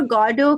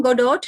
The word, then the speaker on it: Godot: आज स्टार्ट कर रहे हैं वेटिंग फॉर गॉडो का टेक्स्ट। ओके, इसको हम गोडोट नहीं बोलेंगे, ये वर्जन है फ्रेंच लैंग्वेज का, दूसरी लैंग्वेज से आया है और दूसरी लैंग्वेज